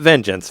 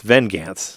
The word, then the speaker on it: Vengance: Not Vengeance, Vengance. It's spelled wrong on purpose.